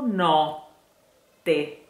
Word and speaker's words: notte: But if you want to make the difference in pronunciation between notte, which means night, and note, which means the note that you sing, you have to keep in mind that note, note has just one T, while notte has that suspense sound